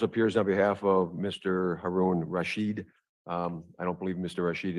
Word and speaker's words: Haroon Rashid: Haroon Rashid. I don't believe Mr. Rashid is on Zoom. I didn't Correct. complete the name. Right, it's Haroon Rashid. I said it wrong.